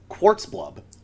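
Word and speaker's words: Zchqxxxxblorb: name is typically pronounced quartz blub the zch is silent uh do you did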